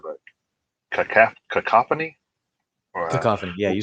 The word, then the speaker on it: Cacophony: Cacophony, yeah, you said it right.